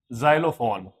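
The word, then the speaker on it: xylophone: जब कोई वर्ड कोई स्पेलिंग के शुरू में एक्स आता है तो उसकी जो प्रोनंसिएशन रहती है वह ज रहती है। जैसे जाइलोफोन जेनोन ज़ेरॉक्स तो देखिए मैंने तीन स्पेलिंग लिखी है यहां।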